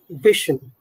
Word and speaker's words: vision: it's admission permission commission Vision Vision just say Vision Vision just say that Vision Vision yes try that okay try that and then slowly we will add the z sound don't focus on the